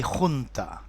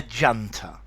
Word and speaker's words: junta: Although this is a Spanish word and I would like to say junta. And I believe that in the United States many people say junta or hunter. But to me in English, a junta.